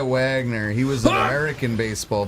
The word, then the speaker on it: Wagner: He was I think it's pronounced Vagner. Oh yeah, you're right. Honest Vagner. No, I think he went by Wagner.